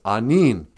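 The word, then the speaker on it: aniin: No, it's anin.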